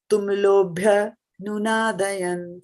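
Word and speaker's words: tumulo 'bhyanunādayan: So bhya, you see, because of the apostrophe, right? So we will pronounce this much part together. This much of it will come together. Tumulo bhyanunādayan, like that. Okay. All right. So So- Mataji, we can combine tumulo bhya. That is the reason. Okay. Whenever there is apostrophe here, it gets combined, right? Okay. Yeah, because that A is silent.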